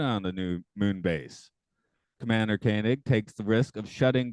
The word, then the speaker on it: Koenig: It's Koenig.